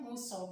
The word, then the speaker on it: Musa: Jadi mengambil kalau dalam bahasa Jawa itu Muso kan tulisannya M-U-S-A gitu ya. Membacanya Muso bukan.